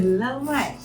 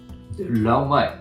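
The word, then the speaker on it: でらうまい: それが正しい発音なんデや。ラうまいじゃなくてデラうまい。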